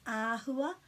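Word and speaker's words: āhua: the a for example in our book about shapes that has got a macron so that sound is ahua but this one is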